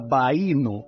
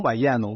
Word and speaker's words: Bayano: África, le llamaban, y la pronunciación era algo similar a Baíno, no Bayano, Baíno, que era una especie de título honorario, algo como príncipe o noble. Pero como los europeos pronunciaban las cosas según su lengua les permitía, pues no todos hablaban castellano, le llamaron Bayano.